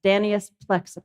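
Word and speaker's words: Danaus plexippus: the name wrong but the typical way to pronounce the Latin name of the butterfly is danas plexus so everybody say that danus plexus excellent that's this is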